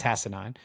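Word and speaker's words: Hassanein: with 10 and a half sacks and ahed hassanan is second on the team by the way I checked it that is actually how you pronounce it it's hassanan uh interesting story on this guy man he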